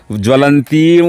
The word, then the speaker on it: ज्वलन्तीं: వస్తుంది అంటే గట్టిగా పల జ్వ అని గట్టిగా పలకాలి రెండు జకారాలని అదేవిధంగా జ్వలంతీం వ అక్కడ కూడా అనుస్వారం ఉంది కాబట్టి దానికి ఇంకొక వకారము అనుస్వారంతో కూడుకున్నటువంటి వకారం అంటే రెండు వకారాలు అక్కడ మనము ఉచ్చరించాలి జ్వలంతీం వా అని అదేవిధంగా వైరోచనీం